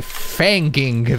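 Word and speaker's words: feigning: You don't pronounce the G.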